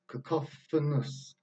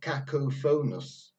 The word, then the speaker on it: cacophonous: a sound cook-off this cacophonous it's not good it's not cackle phonus the cop cacophonous and here is the